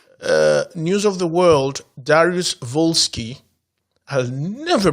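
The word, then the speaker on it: Dariusz Wolski: eric messer schmidt news of the world darius volsky has never pronounced a polish name without pronouncing the w properly so it's not walsky's volsky shut up no madland joshua james recharge and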